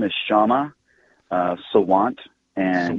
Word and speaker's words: Sawant: Give me a little more on this and what your city council, whose name I can never pronounce, is saying. The council member's name is Kshama Sawant. And Sawant, that's she, right, Sawant.